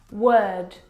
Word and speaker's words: word: word world and work now you're probably mispronouncing these words because you are looking at the o r and you're trying to pronounce the vowel sound o like in do but this is incorrect the vowel sound is actually uh as in her work world word uh